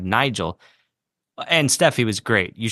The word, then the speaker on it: Nigel: Maybe I misheard, but it sounded like you were pronouncing his name like Niger instead of Nigel.